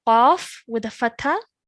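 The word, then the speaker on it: ق: Really try and make a thick and heavy sound coming from the middle of your throat for this Qaf.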